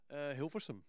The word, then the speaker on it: Hilversum: This is Hilversum, hi. How do you say that? Hilversum.